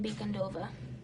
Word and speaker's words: Bicondova: So, yeah, I pronounce my last name Bicondova.